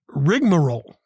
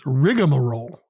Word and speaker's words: rigmarole: word oh my goodness it's rigmarole r-i-g-m-a-r-o-l-e three syllables i knew it as rigamarole r-i-g-a m-a-r-o-l-e but that rigamarole with the a in it is actually the alternate spelling of rigmarole so i guess all